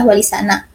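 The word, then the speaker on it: Walisana: H R Muhammad Adnan kata wongo merupakan perubahan atau kerancuan dalam pengucapan kata sana yang berasal dari kata Tana atau mulia yang serupa dengan kata terpuji sehingga menurutnya pengucapan yang benar adalah Wali sana yang berarti wali-wali yang terpuji Wali Songo berarti Wali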